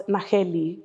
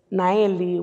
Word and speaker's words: Naheli: And I was like, no, the H is silent because it is a Mexican name. It comes from Mexican descent. And so my name is Naeli without the H in the middle that you normally see in there.